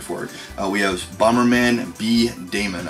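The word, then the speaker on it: B-Daman: We have Bomberman B Damon, I think is how it's pronounced, D-A-M-A-N.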